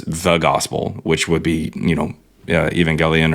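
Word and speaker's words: Εὐαγγέλιον: And in fact, he just says the gospel, which would be, Evangelion or Evangelion. Technically, in Greek, this is how they say it.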